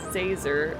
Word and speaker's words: Zazer: on purpose it's prince it's professor zazer like laser with a z how hard is that